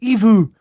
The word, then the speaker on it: EVOO: This is the best oil, and I'll pronounce it Evu, and that's EVOO for extra virgin olive oil.